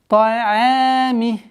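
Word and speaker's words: طعام: обратите внимание, одна из самых распространенных ошибок это твердое произношение айн. Та'ами. Та'ами. Айн мягкий звук, и поэтому категорически запрещается айн, подчинение айна твердости в твердости к звуку та.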